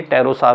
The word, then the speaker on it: pterosaur: N, तो NST letter आने पर ये P साइलेंट हो जाता है, ये टेरोसार हुआ।